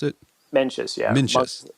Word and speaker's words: Mencius: It's Mencius. Is that how you pronounce it? Mencius, yeah.